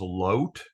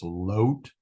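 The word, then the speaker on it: לוֹט: So Avram said to Lot, and in Hebrew, his name is Lot. It's right over here in the Hebrew. This Holam Vav is pronounced as a long O, so it's Lot, Avram and Lot.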